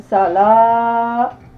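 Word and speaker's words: صلاة: ça dans la lre W ici ne se prononce pas donc ça nous donne sal donc sal ce sont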